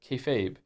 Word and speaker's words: kayfabe: Kefabe is pig Latin for be fake. refers to essentially treating a bit you're doing that everyone understands as fake as real to facilitate the bit and is pronounced kayfabe.